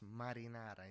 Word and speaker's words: marinara: It's marinara. It's not marinara. Marinara. It's marinara, which means uh, to the way of the sea. The way of the sea. Because it's alla marinara. It's not marinara pasta.